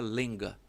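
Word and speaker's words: Łęga: Os avós dela tinha um sobrenome que se escreve em polonês Lega. É um pouco estilizado, então se pronuncia Lenga.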